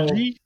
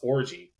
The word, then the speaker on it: Orji: His name's RG. Okay. So Orgy? I think so. That's what I think. It's ORJI. So yeah. Orgy. Alex Orgy.